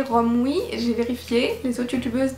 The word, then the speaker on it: Romwe: de romwii alors scoop dans ma tête j'ai toujours prononcé ça RV va savoir pourquoi et c'est en ayant une conversation avec Amélie qu'elle m'a dit que ça se prononçait romwii j'ai vérifié les autres